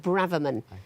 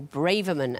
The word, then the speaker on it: Braverman: abravement Sue Ella bravely I think she pronounced it Braverman but yes bravaman or Braverman at clue 4.